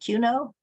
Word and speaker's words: QUNO: Queer Concerns, FLGBTQC, Quaker United Nations Office, you pronounce it QUNO?